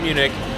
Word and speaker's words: Munich: But, and also I think it helps to know how to pronounce the city you're going to in your local language. Because, again, Munich is not Munich, and Zurich is not Zurich.